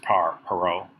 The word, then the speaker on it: Perot: It looks like Parrot when you look at his name, but it's spelled Parrot, or pronounced Perot. Like I guess it's sounds French, but anyway, not sure about that.